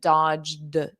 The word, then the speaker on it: dodge: And notice that past simple pronunciation, dodge, a very soft D.